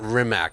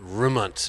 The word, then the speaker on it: Rimac: Yeah, it's called Bugatti, and it's not Rimac. It's pronounced Rimuntz or something. Right. It's a Croatian Croat word.